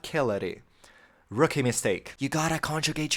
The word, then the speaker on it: celere: The bit in Latin in the middle of Hunter's Moon, Celere, which they pronounce Celere, which is very weird, because it's neither classic nor ecclesiastical pronunciation, but that's besides the point.